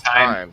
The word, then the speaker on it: thyme: I'm not sure how it's said. I think It's it's time. thyme, right? Yeah. Yeah, time.